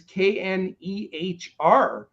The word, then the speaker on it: Knehr: It's Reiss, and then his last name is Knehr.